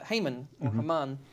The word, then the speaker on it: Haman: you'd consider him kind of an advisor is Haman yeah we'll get to that too yeah uh Heyman as we traditionally pronounce it and Heyman hated the Jews he